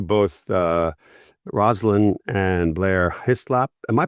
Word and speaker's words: Hyslop: Um with that I'm going to say thank you both uh Roslin and Blair Hislap. Am I pronouncing that correctly by the way?